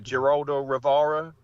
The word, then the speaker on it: Geraldo Rivera: he appeared on, excuse me if I pronounce his name wrong, the Geraldo Rivera Oh, show.